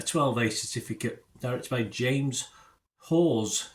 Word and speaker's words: Hawes: A 12A certificate, directed by James Hawes. Is that how you pronounce it? I think you pronounce it another way, Hawas, but anyway, Hawes. The Amateur we're looking at today, yes, written by Ken Nolan and Gary Spinelli.